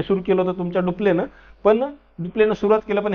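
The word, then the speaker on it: Dupleix: French जे governor होते Joseph francs डुप्ले असं होतं स्पेलिंग पण त्याला डुप्ले असं म्हटलं जातं डुप्ले यांनी सुरुवात केली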